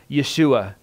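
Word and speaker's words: ישוע: call him Jesus yet his Hebrew name is pronounced Yeshua which means god is salvation he is the Son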